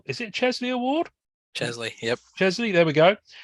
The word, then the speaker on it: Chesley: Chesley, yep. Chesley, there we go. That's spelled incorrectly on Wikipedia.